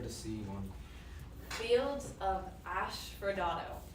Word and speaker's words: asphodel: Fields of Asphodel.